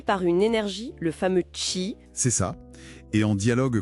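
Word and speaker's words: qi: Le chi, on prononce chi, c'est ça ?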